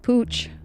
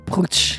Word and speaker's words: Putsch: Putsch. Putsch. Putsch. Where you gotta get some gruff, get some phlegm into it.